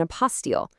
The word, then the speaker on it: apostille: And that passport is called an apostile. You say it like a post steel. It's actually a French word for certification, which is pretty much exactly what it is.